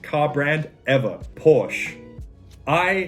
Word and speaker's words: Porsche: parsha that is the correct german way of pronouncing it it is porsche perfect i don't want to hear any comments